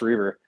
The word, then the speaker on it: Reaver: Gold and, um, uh, Herbert Ross Reaver. I just probably screwed up his name. My brain's fried at the end of the day. No, you said it right.